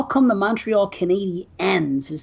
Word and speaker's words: Canadiens: And I'm like, why do they pronounce it like a female version? Like there's Canadian and then there's Canadian and there's Canadiens.